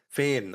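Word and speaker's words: فين: Fein. Oh, it's less of an E and more of an A.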